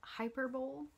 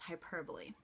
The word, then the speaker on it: hyperbole: here because it looks a little bit like hyperbole but I promise you it is pronounced hyperbole and this is another one of my favorites